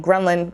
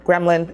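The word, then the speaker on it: ghrelin: like that hunger hormone grenlin gremlin it's not gremlin i hope i'm saying it right it releases that hunger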